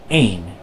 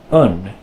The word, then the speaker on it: een: Now at first you may be thinking, oh, this must be pronounced een, but it's really not. This is an exception in Dutch. This word is pronounced un.